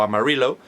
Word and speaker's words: Amarillo: Y bueno, también habría que destacar la ciudad de Amarillo, o Amarillo, como se pronuncia por allí, que es una de